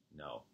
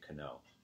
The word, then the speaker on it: know: On a kn blend, the k is silent. For example, no, know, you just say no. You don't say cano.